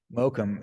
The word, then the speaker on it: Mokum: the Mocam and Hi-Fi, did I Yeah. say it right? Mokum.